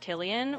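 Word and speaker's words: Cillian: Yeah, so his name is actually pronounced Killian with a hard K sound. So, it's Killian Murphy, not Sillian.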